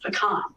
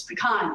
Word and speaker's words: pecan: but it's pretty important here in texas it's pronounced pecan it will vary from state to state but let me tell you it's pecan in texas so this is actually a native